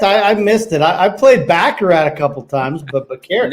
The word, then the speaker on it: Baccarat: I don't know how to pronounce that, but carrot. Baccarat.